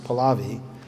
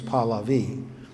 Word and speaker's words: Pahlavi: Now, you may hear people in the West pronounce it Pahlavi, but I heard it himself say, and his name was Pahlavi.